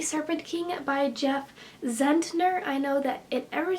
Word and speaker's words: Zentner: I've mentioned this book I've been saying Jeff zehetner and it is that Jeff Zentner I forgot there was an end there so just I apologize